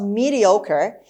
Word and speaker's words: mediocre: hair fairy mediocre mediocre the stress is on oh mediocre ochre mediocre means